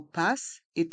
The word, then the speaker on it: Pass: Navigo le Pass Navigo le mot Pass est un mot anglais et on le prononce à la française passe un titre de transport